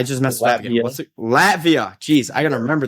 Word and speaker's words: Latvia: And now he's playing overseas in Lativa. Is that correct, Frankie? Latvia.